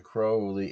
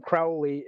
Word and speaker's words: Crowley: His friends called him Crowley and his enemies called him Crowley.